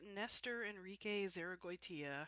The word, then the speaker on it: Nestor Enrique Zarragoitia: Hi, this is Vanessa Van Olstein, and welcome to an interview episode of Art, I Swear, with my special interviewee today, Nestor Enrique Zarragoitia.